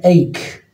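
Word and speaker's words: ache: ايضا كلمه ايك ايك بمعنى الم.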